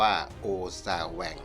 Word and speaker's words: โอซาแวง: ขอ เสนอ คำ ว่า โอซ่า แหว่ง เขียน สระ โอ ออ อ่าง ซ โซ่ สระ อา สระ แอ ว แหวน งู อ่าน ว่า โอซาแหว่ง หมาย ถึง หวาด ระแวง